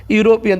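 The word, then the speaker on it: European: बट his wife is यूरोपियन। देखिए Wavell से शुरू हो रहा है लेकिन यूरोपियन ऐसे लिखते हैं ना, यूरोपियन, तो इसका मतलब हो जाएगा कि यह से शुरू हो रहा है तो यहाँ ए यूरोपियन हो जाएगा, इंपॉर्टेंट है।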